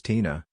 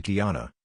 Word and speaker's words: Tina: My name is Tina, short for Christina. Pronounced just like it looks, very easy name. For some reason, a handful of people at work call me Tiana, Tiara, or Tia, I think assuming that